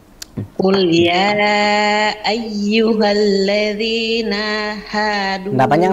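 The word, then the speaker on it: قل: Kul in. Bukan kul, afwan, tebalin sedikit. Jangan terlalu ke huruf kaf. Kalau bacanya kul itu huruf kaf. Kul. Nah. Qul innal mautal ladzi tafirruna minhu fa innahu.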